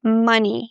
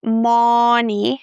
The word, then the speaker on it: money: And my favorite, money. Not money, but ma. Very short sound. Money.